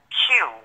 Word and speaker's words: KWU: She has her own business, and it's called Q. It's KWU, but it's pronounced Q.